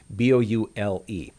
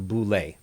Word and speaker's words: boule: One of those is the boule, B-O-U-L-E. The boule is actually how it's pronounced in Greek, the boule.